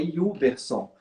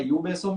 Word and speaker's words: Yuberson: O T é mudo. Então é Yuberson. Então, assim, é Yuberson.